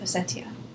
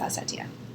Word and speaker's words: Ossetia: I have heard it both Ossetia and Ossetia. In Cyrillic, it's written with a T, so I'm going to go with Ossetia.